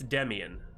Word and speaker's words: Demian: triggy just said it it's Demian like Demi Demian wouldn't mind being